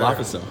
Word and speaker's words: Olafeso: Olafeso.